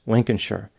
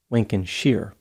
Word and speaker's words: Lincolnshire: There is a town with the same name in Britain, which is pronounced Lincolnshire, but evidently the town in Illinois is pronounced Lincolnshire for some reason.